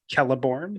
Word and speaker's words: Celeborn: it is menus yeah uh the Sheep Galadriel pronounces her husband's names celeborn oh yeah kelleborn it just and I mean and that is